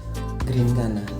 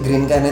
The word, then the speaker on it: Grinkana: Kayak gitu, cuman kita sesuaikan bunyi pengucapan dengan hurufnya yang double E-nya diganti huruf I. Oh. Jadi GRIN bukan GREN.